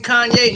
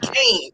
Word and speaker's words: Kanye: My name's Kanye, not Kane.